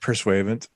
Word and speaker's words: Pursuivant: Isn't that pronounced the Grand Pursuivant? Pursuivant.